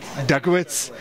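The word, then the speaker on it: Dutkiewicz: How do I pronounce his name so I don't trash this? Dukowitz.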